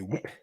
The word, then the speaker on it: whip: Do you say whip with the W with is the- silent? The W is not no, the H is silent.